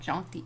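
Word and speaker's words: tjanting: A janty spelled with a t by the way said like janty but yeah and and you scoop out your wet wax.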